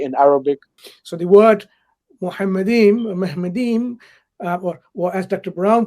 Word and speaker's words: Muhammadim: So the word Muhammadim, or as Dr. Brown pronounces Mahmad or Mahmadim, he's not even willing to pronounce it as the rabbis have pronounced it.